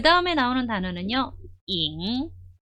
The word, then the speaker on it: 影: 잉.